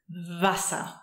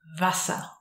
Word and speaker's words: Wasser: For the other sound, V, we actually have our own letter, which is V. V. So watch out here, that's not a W, that's a V. V, V. Wasser. Wasser.